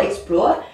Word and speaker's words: explore: C'est un mot de 2 syllabes, hein, explore. Et donc, c'est un verbe, on accentue donc sur la seconde.